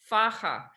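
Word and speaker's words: faja: is a dimin of faha and a faha means and that's F Aja a you pronounce the J like an h f and a faha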